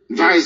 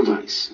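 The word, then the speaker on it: Weiss: his name is microphones Vice spells w-e-i-s-s please micro Vice that's how you pronounce it because of this man in Germanic language W is pronounced as V like the Volkswagen um that's what it's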